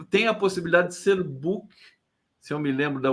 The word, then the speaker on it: Buch: É book, É book. né? Com a pronúncia como se fosse um K. A pronúncia original é Buch, né?